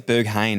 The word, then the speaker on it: Berghain: called i think it's berhan so you just pronounce it you're gonna go behind i think it's berghain actually or burger king yeah 99 it's berghain